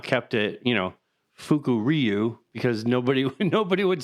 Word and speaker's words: Fukuryu: which this one I had to kind of pronounce before we started this, but Fukuryu is Fukuryu.